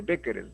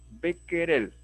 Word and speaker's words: Becquerel: sería ahí si no sería una y sería henry y acá sería de repente becker el no como es francés henri becquerel y así hay una serie de nombres extranjeros que nosotros tratamos de pronunciarlo como si fuese en inglés pero no es el